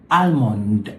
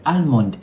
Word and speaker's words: almond: See, almond sounds correct, but it's not. According to the British, the word is almond. Almond. So whenever there's an ALM, the L sort of changes to an H. So for example, the word CALM, it is not calm, it's calm. This here is my palm. It's not my palm or my palm. This is my palm. And so this word is almond or almond.